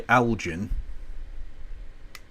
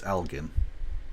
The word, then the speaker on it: Elgin: Americans do tend to say Algen, but it's Algen.